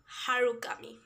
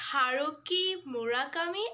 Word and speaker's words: Haruki Murakami: and i saw that i said harukami it's haruki murakami and i just mixed